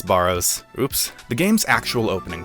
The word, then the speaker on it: Barrows: The one thing that I will share from this intro is that apparently I've been pronouncing Barrows incorrectly. It's Burrows.